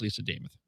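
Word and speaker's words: Lisa Demuth: Last night, Lisa Damas gave a little tutorial on how to pronounce her name. She told us all that it rhymes with Joe Namath.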